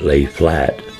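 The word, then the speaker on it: Lafayette: Thurman a new hotel the lafette locals pronounced it lay flat was built in 1901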